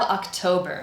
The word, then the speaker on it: October: Our strong syllable is toe.